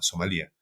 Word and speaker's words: Somalia: somalia nada más a somalía como le decimos que en realidad no lleva tilde pero a somalia entonces fue muy interesante